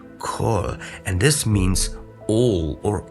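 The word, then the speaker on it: כל: It is written with a patach, an A sound, but it's pronounced O, kol, and this means all or every.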